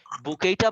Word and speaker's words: bouquet: বুকেইটা মানে হলো ওই যে ফুলের মালা, যেটা ওই যে এটা উচ্চারণটা অনেকে বুকেট করে ফেলে, কিন্তু উচ্চারণ হলো বুকেই, ঠিক আছে?